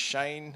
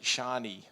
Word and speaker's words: Shane: So my name is Shane. I was recently in Israel, and they pronounce it Shani, which is actually a female name.